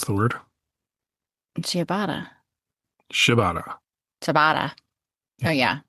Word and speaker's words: ciabatta: Do you remember how to pronounce the word? Ciabatta. Ciabatta. Ciabatta. Yeah. Oh yeah, ciabatta. Ciabatta. I was trying to go over. But her friends were trying to tell her that it's Kabata.